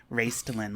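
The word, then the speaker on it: Raistlin: pronunciation but everybody says everybody says raced raclin like raisin but with a t I'll take it I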